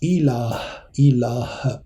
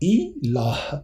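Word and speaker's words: إله: Ilah, H à la fin, on le prononce. Je vous donne la prononciation. Ilah, ça veut dire un Dieu.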